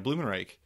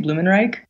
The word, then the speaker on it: Blumenreich: A lot of people are pronouncing it Blumenreich, Yeah. which is fine. I always say Reich. Oh. I just think it sounds nicer, but I think it's more correct to say Reich.